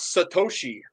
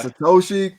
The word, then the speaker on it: Satoshi: you did okay yeah that's literally pronounced like it sounds Satoshi yeah Satoshi Kaja Kima Kima Kima